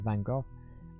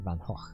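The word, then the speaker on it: Van Gogh: including a biography of Van Go Vang. Yeah. Uh but uh the first I came to fame I keep mispronouncing Vang Vango actually it's Dutch. I think it's supposed to be like Van Hawk, but everyone pronounced it van Van Go.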